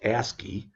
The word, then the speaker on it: ASCII: that's called that is called ascii which is pronounced ascii and it stands for american standard code for